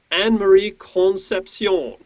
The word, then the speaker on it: Anne-Marie Concepcion: and uh today we have a special guest anne marie concepcion so anne marie don't you quickly introduce yourself